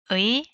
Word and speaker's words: 의: If the noun ends without a final consonant, use ‘의’. “언니,” the last syllable “니” ends without a final consonant. My sister’s bag is pretty. This is the teacher’s book. ‘의’ can also be pronounced like ‘에’.